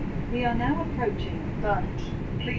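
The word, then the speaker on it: Burnage: Let's see if we can get a better stop here at uh I'm assuming it's it's pronounced Bernage because that's how the auto house pronounced it. We are now approaching Bernage.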